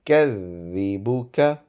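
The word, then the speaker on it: يكذبك: So you kadhibu, dal again. Widen your tongue and very lightly touch it with your top teeth whilst pronouncing dal. So you kadhibuka, you kadhibuka.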